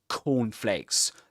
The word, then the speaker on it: cornflakes: So he pronounces 2 k sounds, but the first one is unreleased. He doesn't release the air at the end of it. He doesn't say like cornflakes, but like cornflakes.